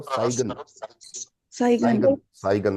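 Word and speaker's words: zeigen: जाइगन। जाइगन साइन नहीं है, इसको सही प्रोनाउंस करो, साइगन।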